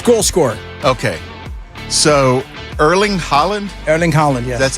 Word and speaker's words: Erling Haaland: So Erling Haaland, yes.